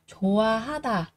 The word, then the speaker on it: 좋아하다: Rồi, âm H này gặp nguyên âm thì sẽ là coi như câm đúng không ạ? Vì vậy ở đây các bạn sẽ đọc là gì? Jowahata, jowahata, jowahata, jowahata, thích.